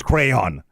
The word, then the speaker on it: crayon: Because it's crayon.